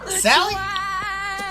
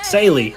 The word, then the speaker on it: Saley: How do you say that, BJ? Sally? Saley. Saley, there you go, Sale.